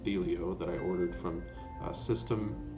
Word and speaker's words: Thelio: excited because finally my felio i think it's pronounced the leo that i ordered from